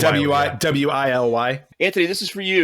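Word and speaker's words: Wily: Wiley. That's right. It's pronounced Wiley, right?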